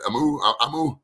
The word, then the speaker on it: Amoo: um is it um i appreciate your hard pronounce the last name is amu you got it man just say how it's